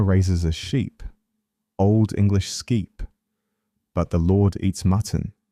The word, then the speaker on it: sceap: The farmer raises a sheep, Old English skeep, but the lord eats mutton, from French mouton.